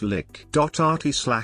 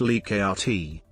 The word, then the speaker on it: Likert: pronunciation rensis leica the developer of the scale pronounced his name slash lick.rt liccati some have claimed that like its name